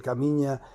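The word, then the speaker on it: Caminha: en la plaza de Camiña. Ya me vais ya me vais a perdonar si, reitero, pronuncio mal el nombre. Eh, era, recuerdo perfectamente que se escribía caminja, pero yo creo que se pronunciaba camiña, ¿no?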